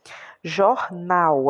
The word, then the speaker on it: jornal: Jornal, a gente faz um pouquinho mais de força para falar o nau. Tá vendo que é a última?